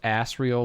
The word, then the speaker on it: Asriel: responsible decisions Tucci hello it's pronounced asriel like ass I don't give a